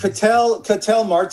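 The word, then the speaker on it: Ketel Marte: Cattell Marte, is that how you say it, Case?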